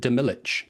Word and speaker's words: Demilich: So is it Demilich? Is that how I'm supposed to say it? I think it's Demi-Lich because it's like a Demilich.